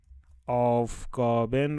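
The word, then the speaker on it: Aufgaben: تشکیل شده دیگه خب لغت‌هایی که آخرشون ای ان یا ا ان آلمانیو داره داره داره چهجوری تلفظ میشن صداشونو قررت میدید مثلاً زن مثلاً مثلاً مثلاً آفگابن رو نگاه بکنید آفگابن اینو چهجوری می‌خونیمش توی آلمانی ما میگیم آف گابن بن آخرش خورده میشه آف گابن یه کمی قورت میدید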